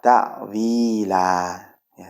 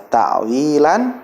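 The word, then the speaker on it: تأويلا: mengharuskan untuk berhenti eh maka tidak dibaca takwilan tetapi tak Lila ya takwila dan dibaca sepanjang dua harokat maka tidak boleh dipanjatkan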